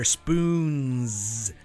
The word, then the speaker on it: Spoonz: director of an organization called Spoonz, with a long O in there, Spoonz, and a Z at the end.